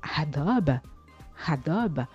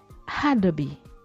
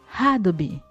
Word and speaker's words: Adobe: Et contrairement à ce qu'on croit, la célèbre marque ne se prononce pas Adobe, mais plutôt Adobe. Adobe.